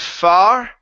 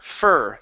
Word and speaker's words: fur: word here okay so instead of far okay it's ER fur like her fur for there you go so it's not an O you don't want to say f but only ER like hey look at her fur uh far almost so